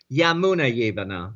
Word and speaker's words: Jamuna Jivana: pronounce Jamuna Jivana or Yamuna Yivana because they don't. The J is very much like Spain. Yeah, It's pronounced as a Y in India.